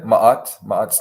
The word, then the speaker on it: Ma'at: So I might be pronouncing it wrong. Is it Ma'at Legal Services? Yeah, Ma'at's legal services.